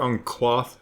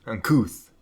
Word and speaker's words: uncouth: Whatever uncloth or quaff, how you pronounce that, things that happen to your body when you're consuming cabbage. Couth, thank you. Uncouth.